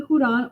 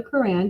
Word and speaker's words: Quran: It is believed that during the month of Ramadan, according to the Quran or the Quran, depending on how you say it, the prophet of Muhammad was revealed.